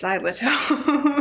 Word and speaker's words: Xyloto: How do you pronounce XYLOTO? It's XYLOTO.